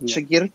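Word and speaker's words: شاگرد: Is that how it's pronounced, I believe? Ustad and Shagird? Yes, sir. It is. Ustad and Shagird is something like exactly.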